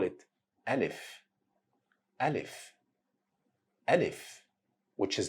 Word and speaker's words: Alif: Alif is pronounced exactly in the same way you pronounce letter A in English. So Alif sound as letter A in the word fat or letter A in the word lava.